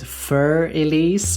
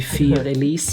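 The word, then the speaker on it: Für Elise: Side note, but I think it's funny the way you pronounce it, Fur Elise, because you have a cat in the video. It's supposed to be Fear Elise, but that's besides the point.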